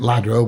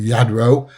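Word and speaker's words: Lladró: And uh the Yadro from Spain, double L is pronounced as a Y, not a so everybody calls it Ladro, but it's actually Yadro.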